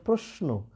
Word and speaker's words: প্রশ্ন: এই তালবস্যের সাথে দন্ত ন যুক্ত থাকলে তালবস্যর উচ্চারণ দন্তস্ব হবে, এটা তাই বলছে, ঠিক আছে?